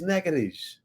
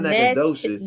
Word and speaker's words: Natchitoches: That is not how you pronounce it. It is Nakadish. It's not Nakadocious.